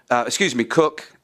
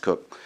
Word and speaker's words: Coke: It's also wrapped into this is the ideas of Edward Coke, Cook. It's written Coke, but it's pronounced Cook. Cook is sort of seen